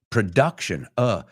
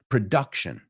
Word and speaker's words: production: Otro, production, no es production, production. Palabras que reconocemos, pero las he oído pronunciadas mal miles de veces, te lo juro. I swear to God. So say them with me. No, el momento que cultivation, cultivation, production, it's that schwa sound, production.